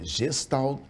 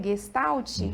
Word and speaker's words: gestalt: É gestal terapia. Se pronuncia gestalt, que é uma palavra alemã.